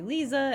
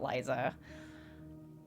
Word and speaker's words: Lisa: I say her name to say Lisa and not Liza so here's our little